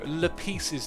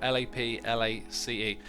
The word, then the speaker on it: Laplace: No, Le Pieces Demon, but I'm sure I'm getting that first name wrong.